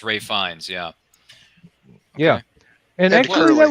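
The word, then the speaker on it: Ralph Fiennes: You know, it's spelled as Ralph, but it's Ray Fiennes.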